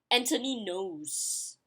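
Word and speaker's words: Antony Noghès: So, and last but not least, it's supposed to be Anthony Knows. But for me, I'll pronounce it as Anthony Noges. Or Noges. I don't know, but Anthony Knows. When they pronounce it that way, I was like, oh, Anthony Knows. Okay, like Knows, but we know it's not that way, but that's how the French people pronounce it.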